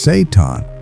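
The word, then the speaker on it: seitan: It's called Saiton, pronounced Saton.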